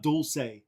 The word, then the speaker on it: Dulce: uh about this is about Dulce that's how you say it if you're speaking in in Spanish ready of 1995.